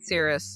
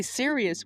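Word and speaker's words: serous: Low grade syrup. lowgrade cirrus ovarian cancer. Yeah, cuz I keep wanting to say serious, which it is serious, but it's low gradede cirrus ovarian cancer.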